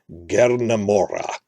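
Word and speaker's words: Gerna Mohra: It sounds like Gernamora with really trilled R's.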